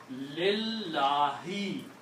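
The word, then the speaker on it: لله: Number two, this kills the sound of this alif here. Okay? So when the sound of alif is gone, then you pronounce lillahi. The word now became lillahi. Originally the word was Allahu. Now it became lillahi.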